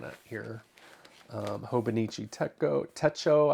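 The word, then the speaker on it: Techo: here um hobonichi TECO Teto I think is how you say it Teto TECO not for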